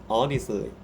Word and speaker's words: honestly: Why does the H disappear in honestly to make it honestly?